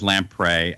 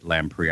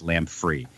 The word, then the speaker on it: Lamprey: lamprey my last name my brother says lamprey I say lamprey I think he says it phonetically because for some reason everyone always calls us lamb free it's the weirdest thing